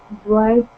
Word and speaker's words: bright: Yes, this is an unusual combination because when it is in the middle of the word, it has no sound at all. Example, bright is pronounced B-R-I-T.